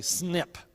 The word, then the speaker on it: SNP: a lot of syllables so it's much easier to just to say snip SNP you're looking at two